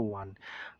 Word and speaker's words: won: Walaupun tulisannya won tapi sebetulnya bacanya itu won.